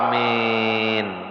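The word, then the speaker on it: آمين: Jadi alif itu 2 harakat ada. Ada situ ada 2 harakat setengah. Tulisan amin kayak itu. Alif 2 harakat setengah, mim ya nun. Ya-nya mati. Jadi cara bacanya apa? Amin.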